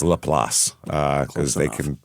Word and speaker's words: LaPlace: but it's Laplace cuz they can pronounce nothing in Louisiana the way it looks